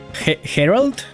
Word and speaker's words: Gerald: It's actually a soft G as in Spanish. Herald.